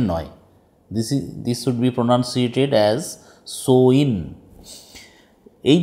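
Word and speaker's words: Samhain: এস এ এম এইচ এ আই এন সোয়েন উচ্চারণটা প্রনাউন্সিয়েশনটা হবে সোয়েন সামহেন নয়ুডবি প্রনান্সিয়েটেড এজ সোইন এই যে সোইন উচ্চারণটা হবে এইযে এস এম এইচ এ আই এন এর উচ্চারণটা হবে সোইন এটার বিষয়ে তোমাদের টেক্সট বইতে যেটা বলা হচ্ছে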